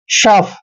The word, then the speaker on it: sough: Next word देखिए SOUGH, एस का उच्चारण हम श करते हैं और OUGH को हमने फ पढ़ना है। बस ये ध्यान रखना है आपने, OUGH का उच्चारण फ करते हैं। शफ।